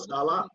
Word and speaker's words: Saleh: I heard it was emphasis on the ah. Robert Saleh?